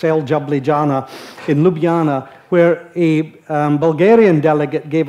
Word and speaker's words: Ljubljana: in Ljubljana which apparently an American who couldn't pronounce it called el jablijana so to a lot of us it's El jablijana in Ljubljana where a Bulgarian delegate gave a talk about